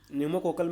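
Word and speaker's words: pneumococcal: कोकल कजुट vaccine PCB न्यूमो कोकल में P silent है इसलिए इसको पी से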